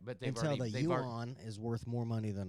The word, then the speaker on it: yuan: I thought it was yen for a I long thought time.